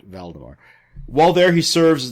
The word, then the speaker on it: Valdemar: of King vemar while there not Voldemort valdemar while there he serves